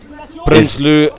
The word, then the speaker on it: Prinsloo: Prinsley, I'm expecting these Afrikaans surnames to be pronounced in Afrikaans. Prinsloo and the boys will be prominent today.